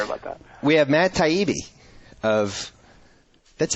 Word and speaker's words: Taibbi: long so sorry about that we have Matt taibi of that's how you pronounce it right right right because your dad